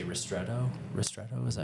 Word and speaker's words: ristretto: And then also like how do you say ristretto?